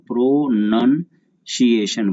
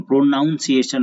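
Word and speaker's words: pronunciation: प्रोनन इसको पढ़ते हैं प्रोनंसिएशन, प्रोनाउंसिएशन नहीं, मतलब होता है उच्चारण।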